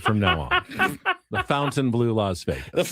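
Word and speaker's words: Fontainebleau: A luxury fountain blue. Fountain blue. Yeah, that's it. Sounded like fountain to me. Fountain blue. Not fontine blue. Not font blue.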